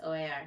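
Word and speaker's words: O.A.R.: But anyways, and then like all of a sudden, literally like 5 years after listening, then someone was like, "It's not or, it's OAR."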